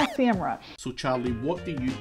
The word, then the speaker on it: Semrush: m rush or semrush or sem rash no semrush how do you say it we thought it's about time to reveal the truth let's see who got it right pretty sure it's pronounced sam rush so charlie what do you call it is